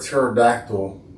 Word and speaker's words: pterodactyl: So, why can't you um hear a pterodactyl go to the restroom? Why? They not around. They never they never resisted. Cuz the P is silent.